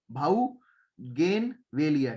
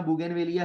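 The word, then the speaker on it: Bougainvillea: गेनवेलिया, ठीक है भाई, याद रखना बोई गेनवेलिया है, ठीक है, तो ये बात ध्यान रखना बुगेनवेलिया है, ठीक है। जैसे इसको प्रोनाउंस करना है वैसे करो, कुछ लोग भाउगेनवेलिया कहते हैं, कोई बाउगेनवेलिया या बोगेनवेलिया, ठीक है।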